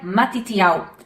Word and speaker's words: מתתיהו: O nome Mateus vem do hebraico e ele se pronuncia Matitiau.